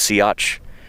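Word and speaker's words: Siats: But it's pronounced sea.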